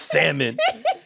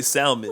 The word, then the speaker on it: salmon: I told the girl there's a L in that word. He's right going in. He's right going in. His voice is like damn that girl's an idiot. She don't even know how to say salmon.